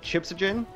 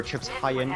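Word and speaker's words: Chipshajen: I always thought that, like, Chipsogen, or Chips Hyen, rather is how you say it, was always the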